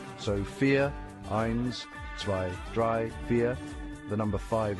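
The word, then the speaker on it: vier: The V sounds like F and I sounds like E. So fear, dry, fear.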